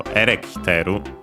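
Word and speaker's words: エレキテル: The full form would be actually erekiteru, accented on the re, so erekiteru, which actually comes from Dutch.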